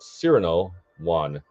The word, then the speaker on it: Cyrano Wan: So it's basically like Obi-Wan, but Cyrano Wan, because I'm a big Cyrano de Bergerac fan.